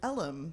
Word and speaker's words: Ellum: This was a freedman's town, and actually the name was based on Elm Street, but it was pronounced due to a dialect was Ellum.